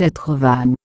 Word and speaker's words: Entrevaux: La commune est nommée Entrevaux, en occitan vivaro-alpin, et provençal. La prononciation locale est Etrevan.